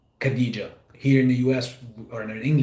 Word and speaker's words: Khadija: So there's a kh, that's almost like kind of you getting ready to spit. I'm not gonna say on someone, but that's how you officially correctly pronounce Khadija. It's Khadija.